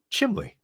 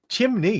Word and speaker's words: chimney: water water water water there's no l in chimley well there is cuz I just said it chimley chimney it's just that such